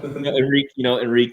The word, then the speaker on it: Henrique: Glad you did that pronunciation because I was going to have to. So Enrique, you can call him. Yeah. Henrique Arujo, he was actually voted the young player of